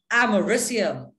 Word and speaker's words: americium: nuclear weapons poisons etc americium yes that's how it's pronounced it's named after america by the way americium is